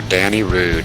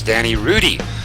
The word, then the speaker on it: Danny Rudy: Unfortunate break for Danny Rude in the number 33 tonight. And I stand corrected on the pronunciation. I just got a memo across my desk. It is Danny Rudy.